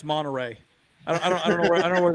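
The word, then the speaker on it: Monterrey: Uh, yeah, they played in Mterrey few years ago. But yeah, the first Yeah. Wow. You're saying that wrong. It's It's pronounced Monteray.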